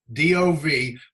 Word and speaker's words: Dov: D-O-V, but pronounced, if English is your first language, pronounce it D-A-W-V. Dov. Dov. Yeah, there's no wings, right? No wings, so no E. Okay, no dove. It's Dov.